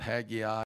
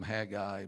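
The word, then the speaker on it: Haggai: verse number nine and some would probably pronounce it Hagi some Hagi but he's a minor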